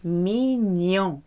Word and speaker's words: mignon: Is mignon. G-N is a new sound. You cannot hear the G. Mignon.